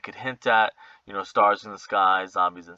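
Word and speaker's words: Starz: changed uh in 2016 pronounced as stars uh as an american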